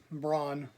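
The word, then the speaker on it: Branagh: Yeah, Braun. Braun. Yeah, that's how you pronounce it. It's Kenneth Braun.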